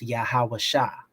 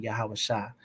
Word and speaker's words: Yahawasha: how he spelt it when you transliterate that spelling from the hebrew directly into the english today it's pronounced yahawasha and that's why i call him yahawasha because i'm going back to source i'm going back to the very first iteration of the word um so but you